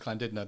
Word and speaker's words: Llandudno: But we went to Llandudno or something. Llandudno, yeah. Welsh, so they pronounce it Llandudno.